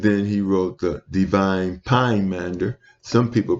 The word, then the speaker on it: Pymander: And then he wrote the Divine Pymander. Some people pronounce it Poimander.